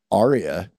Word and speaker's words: Aria: That guitar right there, that aria. You guys get that? R-E-A. Yeah, pronounced it right. Aria. Yes. And it's the guy's name, not the opera term.